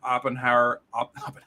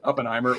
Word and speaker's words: Oppenheimer: and Barbie last weekend oppenhower now I'm gonna say it right Oppenheimer was amazing and Barbie